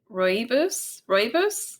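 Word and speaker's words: Rooibos: Roy Royos Royos. And so actually uh my pair that I mentioned earlier, she's from South Africa and she was the first person to introduce me to Royos tea and I became obsessed with it.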